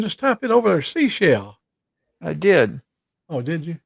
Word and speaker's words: Seychelles: You But said it's pronounced seashell like the shell on the beach.